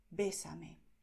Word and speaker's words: bésame: Si quieres pedir que la persona te bese, pues dirás bésame en español. Bésame. Y aquí estás destacando esta E. Bésame.